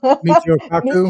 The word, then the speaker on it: Michio Kaku: Michio Kaku.